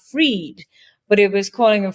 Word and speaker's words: Fried: was f or i e d and it's pronounced freed but it was calling a fried and it's not wrong but it's not you